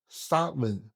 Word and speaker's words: Samhain: 这个词发音叫做萨温，它不只